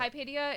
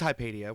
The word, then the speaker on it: Hypatia: ] god dude insane up kaipedia is considered the first which to be uh